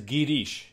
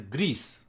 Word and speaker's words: Girish: that is also snow one is girish is the right name you know some people here also lara they they they address me as greece i enjoy i said